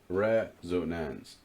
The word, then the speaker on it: resonance: So the only difference is that it could be a 2-syllable word or a 3-syllable word. That's not that common. So usually you have different alternative pronunciations. But here you are changing the quantity of syllables.